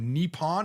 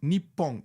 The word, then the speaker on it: Nippon: Okay, first of all, that pronunciation of Nippon Hoso? No, it's Nippon.